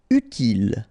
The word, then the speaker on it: utile: Utile, final not pronounced, utile.